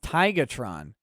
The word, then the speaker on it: Tigatron: Also, you pronounced my name wrong. It's Tigatron.